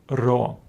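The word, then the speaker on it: ρ: The English letter P but it is the letter ro and it gives us a sound R as in the word R so remember it is not P it is the letter ra the next letter is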